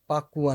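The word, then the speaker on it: Pa Kua: number जिसको बोलते हैं एक्चुअल में वो कुआ नंबर होता ही नहीं है उसका रियल नेम है पाकुआ नंबर ओके पी ए के यू ए पाकुआ नंबर लेकिन ये बोलचाल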